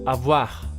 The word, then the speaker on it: avoir: You just throw it out there and you don't pronounce the ending as you would do in many languages. So it's avoir.